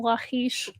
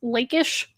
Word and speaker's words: Lachish: So Lex Lotta says that they saw a video with Wes Huff pronouncing Lachish as Lakeish, as though it's a city. Lakeish. Kind of like a lake.